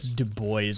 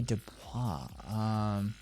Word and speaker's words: Du Bois: You pronounced it wrong on purpose. It's like fuck the French. Yeah, Du Bois or something like that.